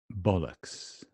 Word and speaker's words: bollocks: Stress is on the first syllable. No stress here. Upside down E. Bollocks.